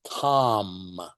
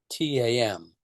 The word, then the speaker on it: Tam: Her seed syllable is Tam, T-A-M, Tam.